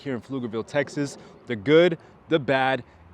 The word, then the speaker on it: Pflugerville: And maybe you came across this fascinating city called Pluggerville. Well, first I have to tell you it is not pronounced Pluggerville. It is actually pronounced Flugerville. The P is silent.